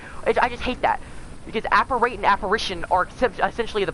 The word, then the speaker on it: apparate: don't know uh but apparate was is the correct pronunciation of that word but Apparition is also the correct pronunciation but I always thought it